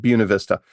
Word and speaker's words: Buena Vista: Except in Buena Vista, Virginia, they pronounce it like Buick.